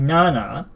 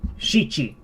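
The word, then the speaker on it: 七: So for here, we do have Nana, like I've said. So this is still perfectly fine. Nana. But there is a second pronunciation that's commonly used. Shichi.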